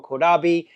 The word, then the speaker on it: Caudabe: Well, I got to let you guys know that whether you pronounce it Kodab or Kodabi, these cases are ones that you definitely have to check out.